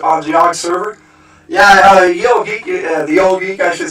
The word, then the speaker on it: Ye Old Geek: Yeah, Yogg is the old geek. He spells out his name Ye Old Geek, but it's actually pronounced the old geek, and that would be YOG.